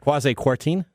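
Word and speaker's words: Kwasi Kwarteng: on this week by business secretary quasi courting and i don't know if i'm saying that right quasi-quarten yeah i'm growing yeah whatever okay that's how we pronounce it okay yeah okay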